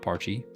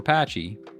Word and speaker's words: Pachirisu: Not Parchy. Not Parchy, we're Patchy.